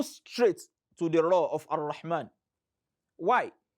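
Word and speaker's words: الرحمن: to the Ra of Ar-Rahman. Why? Because the alif and lam that precedes Ra in the word Ar-Rahman, they are ordinarily silent letters.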